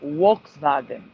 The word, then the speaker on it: Volkswagen: They pronounce it Volkswagen because the V is a W and the W is a V sound.